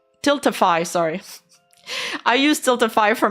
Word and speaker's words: Tiltify: All money from the bids went directly to the charity through Tilfilly Tiltify.